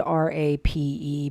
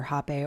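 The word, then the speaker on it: rapé: Some people call it rape. It's spelled R-A-P-E, but it's pronounced either hape or rape, either way.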